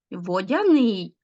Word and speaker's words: водяний: вода плюс суфікс ян водяний а тут наголос падає взагалі на закінчення змія плюс суфікс їн